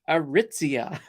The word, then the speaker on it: Aritzia: actually sent me a voice recording saying it's pronounced aritzia so I was like oh oh now I